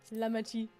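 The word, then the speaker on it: Lamaty'i: I'll try to pronounce it correctly. No, it's Lamati.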